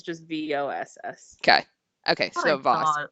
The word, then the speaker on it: Voss: one of these uh the name is Voss okay fabric stop it pause like a boss let's say if you